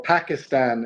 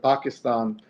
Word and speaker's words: Pakistan: which most people say, or Pakistan instead of Pakistan. But one person, one very prominent non-Pakistani who says Pakistan is Barack Fareed? Obama. Barack. Fareed too, but Barack, because he had a Pakistani roommate. So he says Pakistan instead of Pakistan, which the only time it's ever said that way from the podium of the White House.